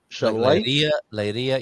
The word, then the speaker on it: chaleira: When you get this ch, it's like a shushing sound. Sh, lay. Again, L, like a soft L with a. Chaleira, chaleira. And going back to our first ever episode of doing this Portuguese phonetically, we have I believe we attribute this, the Clouseau R, was it? The R? No, the Emmanuel from Fawlty Towers, that was it. Okay. The rolled R.